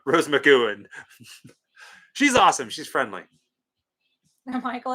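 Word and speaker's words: Rose McGowan: to monster Pala hope to go and meet Rose magon that's how you say her name Rose McAn she's awesome she's friendly Michael is now Jessica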